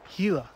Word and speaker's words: Gila: Trails so I'm headed down to the The Gila it's actually pronounced Gila I learned earlier uh we're going to head